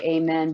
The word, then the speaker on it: amen: We say amen, but it's really amen. So if you take out the men part, it's amen, amen, amen, amen, amen. It's the same sounds.